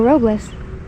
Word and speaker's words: Robles: that video and that I've been pronouncing it wrong my whole life but that's them they're Robles it's hotter than blue